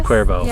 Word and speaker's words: Cuervo: whoever is that like the tequila oh it's Cuervo it's a little different I had their cinnamon